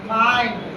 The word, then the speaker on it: mind: जैसे माइंड, MIND, माइंड, आई के बाद एलडी आया है तो माइंड, आ ई पढ़ रहे हैं, आ माइंड, आ ई माइंड।